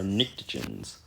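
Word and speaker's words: pnictogens: our chalcoagens and our ntoens that's how that's pronounced the p is silent like a pterodaurus a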